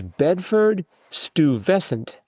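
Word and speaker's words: Bedford-Stuyvesant: It's Bedford Stuvescent.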